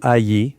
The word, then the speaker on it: Aï: Puis ils ont conquis la ville d'Aï, ou Aïe, prononcée de deux façons, et ils avancent en conquérant ces nations.